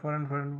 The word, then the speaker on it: foreign: ফরেন বানানটা দেখেন অদ্ভুত, আমরা ফরেন করি কথায় কথায়। ভিডিওটা বড় হয়ে যাচ্ছে, তা আমি শুধু অর্থটাই বলি। ফরেন বানানটা দেখেন, FREIGN। যারা ভালো ইংরেজি জানেন তারা জানেন জির কিন্তু উচ্চারণ হবে না।